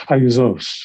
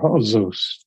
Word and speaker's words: Haozous: off at the ground it's pronounced hayuzos or joseos apache and a mixed